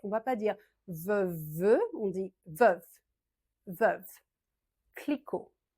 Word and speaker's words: Veuve: Et là, c'est l'inverse, on ne prononce pas le T. Veuve Clicquot. Veuve, veuve. Le E final, en général, on ne le prononce pas trop en français. On ne va pas dire veuve, on dit veuve.